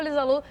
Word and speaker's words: Liza Lou: TikTok, eu Lisa Lou, tudo eu, Lisalu, Spotify, Lisa Lou, se escreve Low, mas se pronuncia Lu, Lisa Lu.